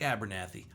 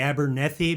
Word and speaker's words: Abernethy: back it's Mike Abernathy I say Abernathy is at Abernathy Abernathy I'm discovering this for the first time tonight after 40 years of friendship it's actually Abernethy but no one pronounces it that way I mean in my